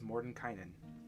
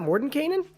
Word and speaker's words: Mordenkainen: mordenkainen's tome of foes i always say his name wrong but i've learned it is mordenkainen it's it's not mordenkainen nope mordenkainen mordenkainen and i only know